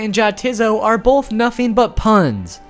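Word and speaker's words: Jatizso: See, if you say it like nay t not and yah tiso, it's supposed to sound like no it is not and yeah, it is so.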